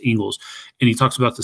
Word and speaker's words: Inglis: I think the guy's name is Ingalls, Inglis. It's pronounced Ingalls.